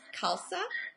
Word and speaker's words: khalsa: that's used in um sikhism too right it's khalsa am i pronouncing that right yeah which means means pure